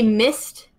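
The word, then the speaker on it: Missed: And her name is Missy Mist, but her last name is spelled M-I-S-S-E-D, Mist.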